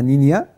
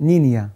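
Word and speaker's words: Niña: ليه نينا بقى هو الكلمه اسبانيه المفروض النطق بتاعها نينيا بس احنا بالانجلش بتتكتب نينا هو عباره عن بنت صغيره بالاسباني اه اسمها ايه بالاسباني نينيا نينيا بس بتتكتب ان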